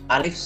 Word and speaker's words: أَ: তো আমাদের আজকের শব্দ আলিফ জবর আ। আলিফ জবর আ, এটা উচ্চারণ হয় আ।